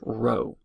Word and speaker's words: rho: Greek letter Rho or this italicized P looking thing but this is pronounced Rho remember this is similar